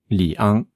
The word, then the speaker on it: 里昂: 2 caractères qui se prononcent li et ang. Li, ang. Li, ang. Ouais, justement, tu t'es trompé, tu as dit li, ang, c'est premier ton, là c'est deuxième ton.